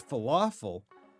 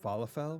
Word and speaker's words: falafel: Found these bite-size falafel. The thing that I always pronounced falofell when I was young when I I say when I was younger before I knew that it was falafel.